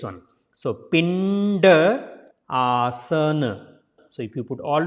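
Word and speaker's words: Pindasana: So this D will be pronounced like a D, not the like previous one. So Pindaasana. So if you put all together, it's a Pindaasana. Pindaasana.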